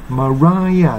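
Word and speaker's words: Mariah: しかもこれは E、本来はマリアだったからマライアという風に発音してるんですよね。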